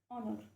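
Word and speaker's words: honour: Okay, जैसे कि इसके एग्जांपल देखो, जैसे कि ऑनर, इसे हम क्या है, एच को साइलेंट है, एच तो हमारा साइलेंट है, तो हम क्या बोलते हैं ऑनर। ऑनर का क्या होता है ओ, ऑनर की आवाज़ आती है ना, ओ की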